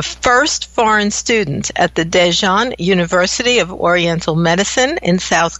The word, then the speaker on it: Daejeon University: being a student at dejan University and also correct my pronunciation of that oh actually it's very very close its Daejeon University and it's about three